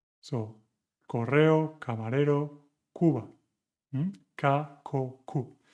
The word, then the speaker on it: Cuba: 9, Cuba, suena como casa.